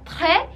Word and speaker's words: très: Y que en francés sería très, no se pronuncia la S y llevaría un acento y significa muy.